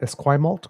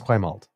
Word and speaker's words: Esquimalt: Now, am I pronouncing it Esquimalt Colwood?